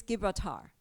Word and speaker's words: Gibraltar: And another pronunciation is Gibraltar. Okay, it reads Gibraltar.